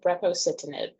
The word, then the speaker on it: brepocitinib: Yeah, the medication's called brepocitinib. It's Can you spell that for me? well, now that I'm on the spot, let's see if I could do it. It's BREPOCITINIB, brepocitinib.